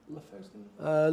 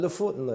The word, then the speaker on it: Lofoten: How do you pronounce it? Lofoten? Lofoten? Lofoten, I suppose.